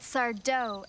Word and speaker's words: Sardo: sardo was a fake that sardo Accent on the dough great story and here's